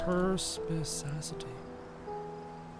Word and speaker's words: perspicacity: Perspicacity. Hard C.